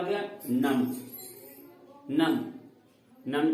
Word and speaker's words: नमः: नम में जैसे हम यह विसर्ग दिए, क्या हम इसे बोलेंगे? अब इसे हम ह के रूप में बोलेंगे। ह का उच्चारण करेंगे म के बाद वह क्या होगा, नमः।